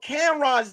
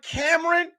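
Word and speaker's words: Cam'ron: bad angie levette spelled camron's name wrong she called the cameron when you call cam ron cameron that just goes to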